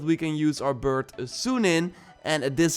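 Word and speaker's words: Sýnin: And Ashraf also notes that we can use our bird Sunin, and this is how you pronounce it, by the way, to distract enemies and then maybe sneak past them.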